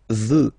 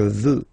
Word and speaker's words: veux: Vouloir, first person, je veux. Final X not pronounced. Je veux.